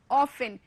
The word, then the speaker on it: often: often, O-F-T-E-N, often. यहां पर ध्यान देंगे बच्चे आप लोग, T is silent, T is silent, you have not to pronounce T, you have to say only often, okay?